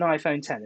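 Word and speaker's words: iPhone X: next iPhone was an iPhone 10, or the X, whatever you want to call it. I've been told the correct pronunciation is an iPhone 10. It's Roman numerals, the X is.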